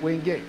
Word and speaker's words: Wingate: quite know why, but for whatever reason, it's pronounced Wingate, not Wingate.